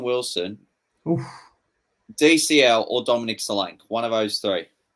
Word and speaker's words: Solanke: DCL, or Dominic Solanke. One of those three. Solanke rhymes with. Yeah, I mean. Rhymes with Jack's a crank. Rhymes with low rank.